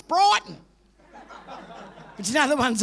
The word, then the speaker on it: Brighton: brad i live in bratton they can't even pronounce their own suburb it's brighton but you know the